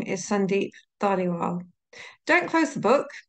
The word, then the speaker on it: Sandeep: If Sandeep doesn't work for you, imagine it's Sandy, but with a silent P at the end.